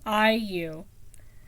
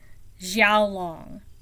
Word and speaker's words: Xiaolong: of fun trying to figure out how to pronounce it. Qiu, Qiu, Xiaolong, Xiaolong.